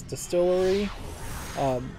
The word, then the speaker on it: DSTLRY: Comic Titans apparently have joined Comixology execs to found a new comics publisher called DSTLRY, which I assume you pronounce as Distillery.